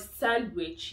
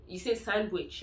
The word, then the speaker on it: Sandwich: There's a city here called Sandwich. You don't say Sandwich. I don't even know what that would sound like, but you actually pronounce the W there. You say Sandwich, okay?